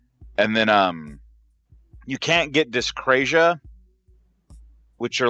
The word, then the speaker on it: dyscrasia: How do you pronounce it, Dan? Discrasius? Dyscrasia. Dyscrasia. Yeah, with no dyscrasia.